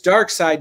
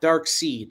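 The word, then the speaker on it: Darkseid: By the way, it's Dark Side, not Dark Seed.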